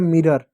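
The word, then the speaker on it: mirror: र हो गया मिरर, ओ साइलेंट होगा, आर का र हो गया मिरर, ठीक है, मिरर हो गया।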